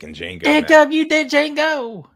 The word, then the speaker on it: Django: Jacob, you did Django. The D is silent.